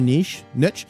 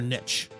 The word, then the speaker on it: niche: That's in the gold and silver niche. Do you guys say niche or niche? I kind of like niche better, but some say niche. It rhymes with quiche.